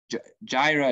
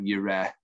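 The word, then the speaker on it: Yireh: or that place yahweh jaira is just a you know you all know now it's a bad pronunciation of yura and jehovah is a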